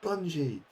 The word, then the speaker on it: bungee: What are you doing now with budgie jumping? Oh, that's brilliant. Like, no, it's pronounced Bungee.